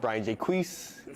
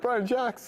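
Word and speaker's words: Brian Jacques: by Brian Jax uh who I pronounced Brian jqu at the bookstore and they tell me who who is that like don't like you pronounce him he's French he's not J jqu I was like oh God so embarrass Brian jock but yeah Ben B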